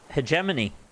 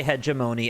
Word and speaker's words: hegemony: this and hegemony that I thought it was pronounced hegemony have I been saying it wrong I used to say hemony and then I started saying it the other way cuz somebody corrected me oh it's both a see I fall into